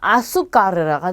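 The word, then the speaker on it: azúcar: 자, 이 글자는 아수까르라가 되겠죠.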